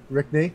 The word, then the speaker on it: Rickne: So, this is Ricknney, correct? Yeah, that's good. Perfect.